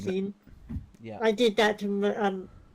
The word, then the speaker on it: Sean: I have a problem with Sean when it's spelled Sean. I keep saying Seen. Sean.